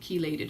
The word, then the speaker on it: chelated: is chelated and so some people don't know she laid it chelated he did chelated is really how it's pronounced so and yes nerve